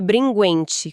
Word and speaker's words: Bringhenti: Ah, e lembrando que o sobrenome se pronuncia Bringuente, com som de "g".